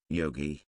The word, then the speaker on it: Yogi: methods is also yoga Yogi hard G one trained in yoga